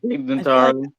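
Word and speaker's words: Tig Notaro: did I just say that right yeah yeah TIG Naro I thought I said it wrong she is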